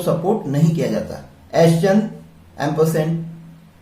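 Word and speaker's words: ampersand: तो इसका जो एग्जैक्ट प्रोनाउंसिएशन है वो एम्परसेंड है, लेकिन मोस्टली पब्लिक यूज में इसको साउंड दिया जाता है एंड।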